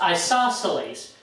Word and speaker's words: isosceles: Remember, that's pronounced isosceles.